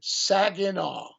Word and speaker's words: Saginaw: Saginaw.